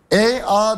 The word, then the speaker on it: Ea: EA demek yani Sümerce'de biz şu anda Enki diye söylüyoruz ama EA diye okunuyor.